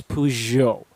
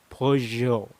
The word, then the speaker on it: Peugeot: you pronounce this as peugeot peugeot these are usual sound very french you sound so very posh very very good and take note that the t is silent as well peugeot say that for tita